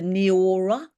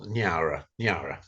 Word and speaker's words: Nyara: lowland Sepik called the, correct me if I'm wrong in the pronunciation, the Niora. Yeah, well, Nyara, yes, Nyara.